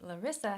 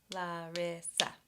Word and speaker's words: Larissa: And my name, Larissa, has three vowel sounds. La, a, ri, I, sa, a. Larissa. Three syllables.